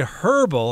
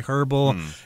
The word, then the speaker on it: herbal: Some people say herbal. I think in the UK they say herbal and in the US we tend to say herbal, although sometimes this switches around. Some Americans say herbal as well, but it means it has herbs in it.